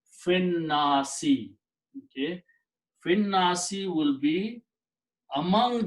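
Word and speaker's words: في الناس: And when you pronounce these together, you do not pronounce this alif. And the rule is that when this alif is not pronounced, this hamza and fatha is changed into a small swad. The small swad with this vertical line means hamzatul wasl. Do not pronounce this and combine fi with this word.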